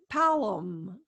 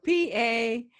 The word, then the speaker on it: Palem: So Palem is, I believe, how you say it. So Palem.